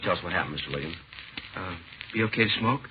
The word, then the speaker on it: Liggins: Uh, my name's Ligins. Liggins. Can you spell it, please? Yeah, it's L I G G I N S. Ligins.